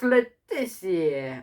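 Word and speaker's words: Le Tissier: Matt Letizia, 102. He's not French. Why would you say his name like that? He's English.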